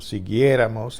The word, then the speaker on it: siguiéramos: Siguiéramos has to have an accent because it ended up being the antepenultimate syllable, meaning this next to the next to last syllable.